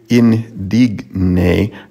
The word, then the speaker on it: indigne: With indigne, the GN, the G would be pronounced more like an NG before an N, so it'd be indigne, not indigne, indigne.